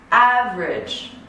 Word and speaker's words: average: Average, I connect, combine these two.